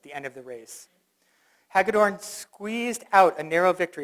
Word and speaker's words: Hagedorn: again with the election of Bruce, help me pronounce his name. How is it? Bruce Hagedorn to the Wisconsin Supreme Court.